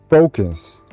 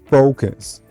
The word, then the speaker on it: focus: The next word for you here is, pay attention, focus. See what I did there? Focus. I often hear this word mispronounced as focus.